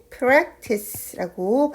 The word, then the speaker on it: practice: 연습하다라는 단어는요, P로 시작하는 practice라고 발음을 합니다.